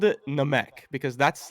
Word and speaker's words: Namek: I really don't care about people's pronunciation. It's Namek though.